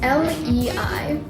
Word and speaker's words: Lei: So this is about a girl named Lei, or Lee, I don't know how to pronounce anything, it's Lei.